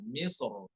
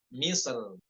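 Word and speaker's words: مصر: boleh y seperti itu Nah Adapun misr pada kata misr di Alquran ya banyak itu kan Nah ketika dia kata misrnya berharakat tanwin Man itu boleh wajan boleh dua cara yaitu tafkhim dan EE tipis ya yang namun yang tafkhimnya itu yang dibaca dengan tebal lebih diutamakan misr misr seperti itu ya yang tafkhim bagaimana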